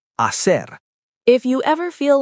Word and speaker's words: hacer: The H is invisible. Hola, hablar, hacer, hambre. Hablar, to speak, not hablar, just hablar. Hacer, not hacer, just hacer.